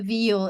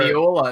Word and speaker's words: viol: A viol. It's like a fat old violin. Yeah. So as your viola, is that not how it's pronounced? I played it. No, just viol. V-I-O-L. Sorry. V-I-O-L.